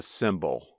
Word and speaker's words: symbol: The bald eagle is a cymbal. That's spelled S-Y-M-B-O-L. But there is also an object used in music called a cymbal.